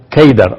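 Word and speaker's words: قيدار: En árabe la palabra Cedar se pronuncia Keidar o se escribe Keidar.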